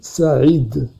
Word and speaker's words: Saïd: Vous le lisez Saïd. Alors que normalement, moi je m'appelle Saïd. Saïd avec A.